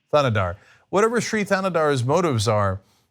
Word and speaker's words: Thanadar: It is interesting, though, whatever this, how do you pronounce his name? Sri Thanadar. Thanadar.